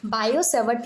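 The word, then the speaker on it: Biot–Savart: काफी ज्यादा इंपॉर्टेंट है बायो सेवट लॉ टी साइलेंट होता है इसीलिए हम इसको सिर्फ बायो सेवट लॉ कहते हैं इसका स्टेटमेंट देख लीजिए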